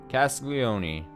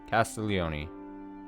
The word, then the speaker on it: Castiglione: Beatrice Castiglione. Castiglione. I think the G is pretty silent. Castiglione.